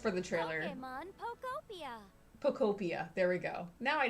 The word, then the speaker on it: Pokopia: Pokopia.